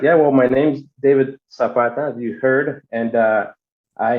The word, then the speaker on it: Zapata: Or Zapata. You didn't say it right, Jeff. I like the way he said it a lot better. Yeah, let's hear you try, Luke. Zapata. You gotta roll Zapata.